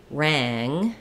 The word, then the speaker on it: rang: followed by NG so if I have for example rang it doesn't really sound the same as the ah it's the a vowel in both rat and rang but when I'm saying rat I can stay open I don't have that NG following rang rang it affects the vowel it gets a little bit nasalized and a little bit higher I have a few